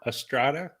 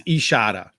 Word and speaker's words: Estrada: i like number four estrada i'm the official pronunciator so it's ishada yeah well she's had